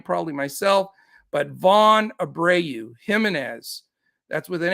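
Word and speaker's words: Jiménez: myself but von abreu jimenez that's with an h uh no it's it's a j but it's pronounced with an h as i that's an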